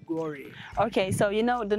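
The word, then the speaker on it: Gorée: So the French people, they could not pronounce the word. They say Gore.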